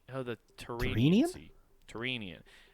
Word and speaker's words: Tyrrhenian: okay here we go terrine no the terrine easy Tyrrhenian it's a how it phonetically is said is T TR EE n ee u H and I'm gonna simplify